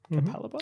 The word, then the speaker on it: Capalaba: Capalaba.